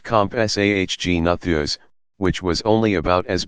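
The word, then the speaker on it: Compsognathus: the smallest of them may have SOG natha's pronounced comp SAH Gina Thea's which was only about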